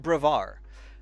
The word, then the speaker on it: Brevard: Raul Brevard. Kind of like the French, the D is silent. If you want to pronounce the D, that's okay, too.